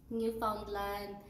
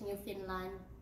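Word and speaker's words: Newfoundland: bruns week noos scos new foundland I Believe they pronounce it as new Finland and Prince Edward Island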